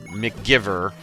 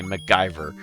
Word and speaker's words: MacGyver: Oh, and then and then and then he said McGiver, but actually meant to say MacGyver.